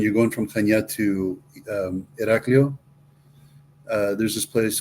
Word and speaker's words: Iraklio: Iraklio is the capital of the island. Where? Iraklio. The Heraclion.